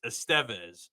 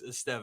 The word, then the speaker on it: Estevez: There's something with the different sound and where the accent is placed in the gotcha. name, so that's why it's Estevez. Because I heard Mm, Lauren or Taryn Thatcher pronounce it like 20 times, and I was like, gotcha. "Why is she saying it like that?" But it is in fact Carlos Estevez.